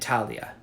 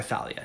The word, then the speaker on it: Thalia: Aglaia, Euphrosyne, and Thalia, or Thalia, depending how you want to pronounce it.